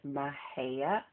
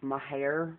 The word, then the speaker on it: Mexia: For any of you wondering, that's how you pronounce it, Mahia. A lot of the locals who live there that call it Mahair, like Mahair, Mahair. But it's Mahia.